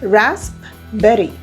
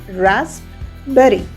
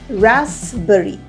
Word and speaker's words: raspberry: If we go by the spelling, it's pronounced as raspberry. Raspberry. But is that the way to pronounce it? Absolutely not. The P in rasp is silent. We have to pronounce it as raspberry.